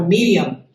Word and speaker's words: Miriam: Segundo, le están pronunciando el nombre mal, porque el nombre de María no fue María, fue Miriam. Ese es su nombre hebreo.